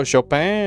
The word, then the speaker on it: Chopin: Oh, Shopen. Is that how you say it? Shop. Chop. I see.